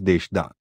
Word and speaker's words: Desra: North of Jairambati, on the other side of the Amodar and across a vast field, is a large village called Desra, pronounced as Deshda.